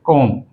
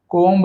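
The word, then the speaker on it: comb: कोम कोम यहीं पे कोम कोब्ब नहीं कहना चाहिए। बी साइलेंट नम नम जो है ये भी साइलेंट है।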